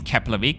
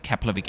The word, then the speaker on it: Keflavík: And yes, the F in Keflavík is pronounced like a P.